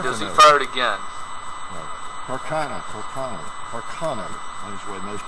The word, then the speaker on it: Carcano: Carcano. That is the way most people pronounce it. I did read that Carcano is really wrong. Carcano.